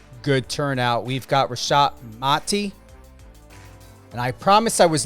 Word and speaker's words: Mati: before we went live it's very important to know how to pronunciate and and I get it you know sometimes you don't correct but it's mati yes yes um even